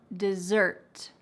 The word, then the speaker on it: dessert: I want to eat some dessert. I want to eat some dessert. There is emphasis on the second syllable.